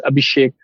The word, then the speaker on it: Abhishek: hope you already know my name and then pronounces it correct but my name is abhishek and i started as a full-stack web